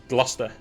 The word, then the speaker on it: Gloucester: You probably read that in English and think, oh, it's like Gloucester or something. No, it's Gloucester is how it's pronounced. It's Gloucester.